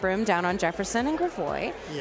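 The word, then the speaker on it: Gravois: Uh, I always pronounce that wrong. I'm not I'm not native to St. Louis. Everybody makes fun of me of how I pronounce Gravoy or Gravo. Gravoy. Gravoy. I think it's Gravoy. Gravo.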